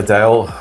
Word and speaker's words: Adele: Okay so we've got Adele which I should be saying her actual name is Adele that's how it's pronounced but everyone knows about